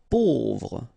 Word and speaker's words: pauvre: Pauvre. A, U together will produce this O sound. Pauvre.